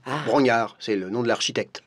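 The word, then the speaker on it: Brongniart: Paris par Bron Bro ça s'écrit Bron mais ça se dit Bro Brognard c'est le nom de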